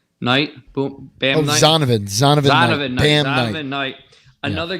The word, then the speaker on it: Zonovan Knight: Zonovan Knight.